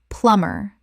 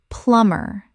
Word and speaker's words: plumber: plumber Common mispronunciation. plum-ber Correct pronunciation. plumber The B is completely silent. Two syllables only.